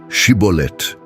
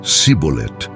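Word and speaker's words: שיבולת: Rio Jordão foi-lhes solicitado que pronunciassem a palavra shibolet no entanto devido a sua herança egípcia não conseguiam pronunciá-la corretamente usando em vez disso a forma cbol essa dificuldade linguística resultou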